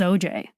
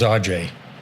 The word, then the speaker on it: Ajay: His family says OJ, but to his friends, it was Ajay, and he never corrected us, and he's not very bashful.